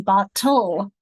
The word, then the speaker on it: bottle: The same thing will often have the L, like in bottle, becomes a syllabic consonant, that ul sound.